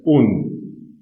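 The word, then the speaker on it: und: And is pronounced as un.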